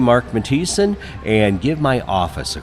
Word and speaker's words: Matthiesen: house.mo.gov that's house.mo.gov look for my name Mark matis and give my office a call spell that one time for us it is m